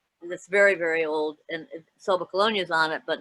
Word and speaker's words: Sommocolonia: Sommocolonia. Sommocolonia. Sommocolonia. So it originally came from the Latin, meaning highest colony. Summa Colonia was in the Latin.